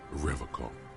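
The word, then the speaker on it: Revachol: He pronounces Revacon with a hard K.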